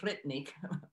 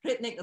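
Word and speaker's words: Hrithik: I believe the first name's pronounced Ritnik. I might butcher that. Ritnik Roshan, which is who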